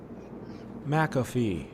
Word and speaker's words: McAfee: um i'm gonna google it seems to be pronounced mcafee mcafee mcafee i went on youtube and there's a clip here how to pronounce mcafee mcafee yeah it's mcafee um okay so mcafee was arrested in spain